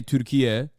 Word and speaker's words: Türkiye: They're trying to say Türkiye, which is like the new naming convention for Turkey, which is like the actual is how you say Turkish, Turkey in Turkish.